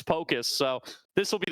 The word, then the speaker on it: Pocus: justed this out recently we've been calling him pacus for forever he does say the pronunciation is Pocus so this this will